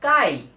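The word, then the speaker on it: χ: নট এইভাবে লেখা যায় এই সিম্বলটা এই যে এক্স এর মত একটা সিম্বল এই সিম্বলটার উচ্চারণ হচ্ছে কাই তাহলে নিচে এম দিলাম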